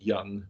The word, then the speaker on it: young: y u n g young makes sense but there is obviously an o there so that's a silent letter it's one you don't